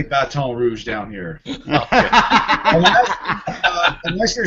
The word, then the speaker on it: Baton Rouge: No, I'm not in Baton Rouge. You say it like you're from Michigan. I say it like from Louisiana. Baton Rouge. You don't say Baton Rouge down here.